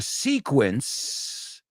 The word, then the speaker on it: sequence: funny because when it's an S it sounds like a z and in the second one sequia when it's a it sounds like an S so does English make